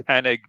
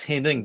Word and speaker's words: Hennig: I think it's Hennig, but I always say Henning. It is IG. For years, I thought it was Henning because some of them